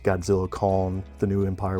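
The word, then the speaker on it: Godzilla x Kong: Um, but yeah, I I believe the director said it is pronounced Godzilla con the new empire with the X being silent.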